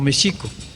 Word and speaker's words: México: y que llamamos méxico nosotros lo pronunciamos como méxico que es la forma verdaderamente más allegada a la pronunciación náhuat pero el x tiene un problema muy serio en el caso de méxico es j en el caso de